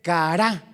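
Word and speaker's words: קרא: tu diccionario hebreo y se escribe cará con c de Carlos, a de Alberto, R de Raúl, A de Alberto con la acento en la última A.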